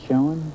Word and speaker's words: Schoen: Is that the way you pronounce it, Schoen?